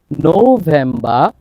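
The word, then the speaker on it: November: এবং শব্দের শেষে যদি আর হয় আর এর উচ্চারণ হবে না তাহলে খেয়াল করুন সেপ্টেম্ব তাহলে সেপ্টেম্বর না সেপ্টেম্ব অক্টোবা অক্টোবা অক্টোবা নো ভেম্বা V sound নো ভেম্বা নো ভেমবা ডিসেম্ব ডিসেম্বার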